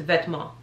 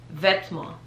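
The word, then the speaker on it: Vetements: because it literally just the french translation is literally closed so this is vetmo vetmo vetmo i'm trying to think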